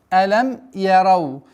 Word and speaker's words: ألم يروا: Алям ярау. Нужно обращать внимание, что вау с сукуном. И нужно применять ярау. Ярау. Нет, ярау.